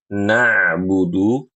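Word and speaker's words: نعبد: Kemudian, Ibu, huruf ain ketika membaca na'budu suaranya na na'budu na'budu.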